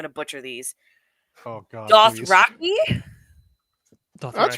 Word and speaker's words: Dothraki: He's most well known for helping create the Game of Thrones languages of, okay, I'm going to butcher these. Oh, God. Dothraki? That's right. Dothraki.